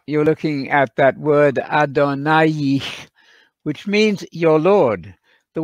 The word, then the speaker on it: Adonai: you have there just a straight line so pronouncing that word correctly is adonai the word is not adonai equals god there